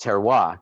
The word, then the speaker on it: terroir: he's using we've learned terroir which looks like terrier or terror but is in fact pronounced terroir correct tell you that spell